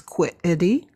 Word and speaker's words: quiddity: And the word is quiddity. And it's spelled Quiddity, quiddity.